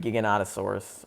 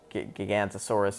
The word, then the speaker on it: Giganotosaurus: Stupid Giganotosaurus, or Gigantosaurus if you're Sam Neill and don't know how to pronounce dinosaurs, despite that being your entire character.